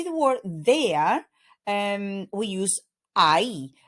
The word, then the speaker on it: ahí: To say the word there, we use ahí. And notice that we have the H in between those two vowels, and the H in Spanish is silent.